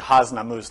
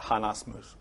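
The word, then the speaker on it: Hasnamuss: Yeah, it's actually Hasnamus, not Hanasmus.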